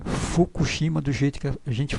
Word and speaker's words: Fukushima: faz a pronúncia tá o japonês ele fica com o Lábio um pouco mais aberto entre aberto Então esse furo aqui não é bem o furo do jeito que a gente fala é uma mistura de R com r com f Então você abre Geralmente os lábios e faz a pronúncia então é um F um pouco meio assoprado digamos assim Então esse esse